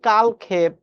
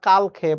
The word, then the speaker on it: কালক্ষেপ: গেছে কালক্ষেপ আমরা বলি এই শব্দের সঠিক উচ্চারণ জেনে রাখো কালক্ষেপ আমরা কিন্তু বলি কালক্ষেপ নট কালক্ষেপ উচ্চারণটা কালক্ষেপ সামনের দিনে এরকম অনেক